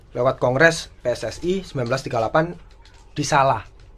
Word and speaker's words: Solo: Kongres PSSI 1938 di Salah, Solo. Ya, Solo. Kan membacanya salah. Bener. Tapi setahu emang Bung Karno itu harus maksudnya pernah ngingetin untuk yang benar itu bacanya salah.